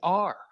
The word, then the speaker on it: Weiner: They're going to pronounce it Weiner. It's Weiner.